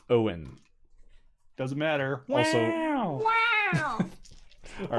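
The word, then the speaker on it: Eoin: Wow I will say it's spelt in the what is it the Gaelic or Celtic way I can't remember it's e o I n so it's Owen doesn't matter all right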